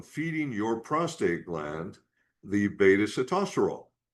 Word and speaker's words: sitosterol: Beta-sitosterol. Now, this one, and most Americans say cytosterol, makes me nuts when I hear it pronounced that way. Beta-sitosterol, that can help you